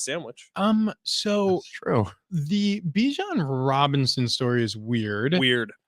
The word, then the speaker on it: Bijan: So Bijan Robinson, who every single time I say his name, I want to say Dijon like the mustard.